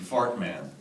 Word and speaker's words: Fart Man: played a character named Fart Man. It's pronounced Fartman. I'm sorry? Fartman. Fartman. But it's actually spelled Fart Man.